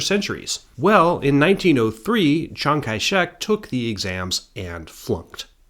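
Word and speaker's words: Kai-shek: The old Cantonese pronunciation of this name is Kaishek.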